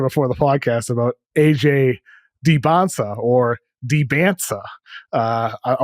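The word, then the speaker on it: Dybantsa: Debonsa. Just forget the T's. They are silent. Debonsa.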